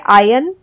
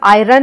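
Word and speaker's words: iron: Are silent है आयन, world. इसमें हम आयरन नहीं बोलते, हम आयन बोलते हैं, हम वर्ल्ड नहीं बोलते, हम वर्ल्ड बोलते हैं।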